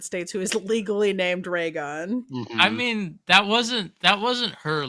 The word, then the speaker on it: Raygun: a baby name, I just want to submit Raygun. Name your baby Raygun for us. Pronounced Ragin.